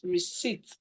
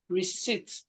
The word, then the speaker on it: receipt: Okay, the word is receipt. The P is silent. Receipt for that's the pronunciation is receipt. The P is actually silent.